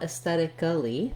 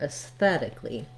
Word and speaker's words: aesthetically: to share, is that when I add the A-L-L-Y to make it an adverb, it might make me think that I should add ali for two syllables there. And in reality, we only add one syllable. We just add the sounds li, an L and an E sound. So you don't want aesthetically, but rather aesthetically.